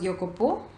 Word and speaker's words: Jacopo: 13 years old and the younger one is Jacopo which it should be pronounced as yo Kapoor and he was 12 he is 12 years